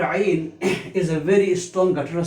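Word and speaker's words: عين: This shape without any diacritical mark is called Ain. Its pronunciation in English is A-Y-N, Ain.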